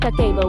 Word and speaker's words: Kakeibo: Kakebo, pronounced kako, was developed in 1904 by Hanimuk, Japan's first female journalist and later a publisher of a women's magazine.